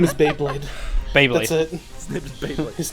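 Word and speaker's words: Baeblade: Beyblade. That's it. His name is Beyblade. His name is Beyblade. But it's spelled B-A-E Blade.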